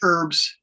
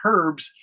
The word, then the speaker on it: herbs: mangoes uh and fresh herbs now your teacher if they're from England they will say herbs but Americans say herbs e RBS herbs um a warm breeze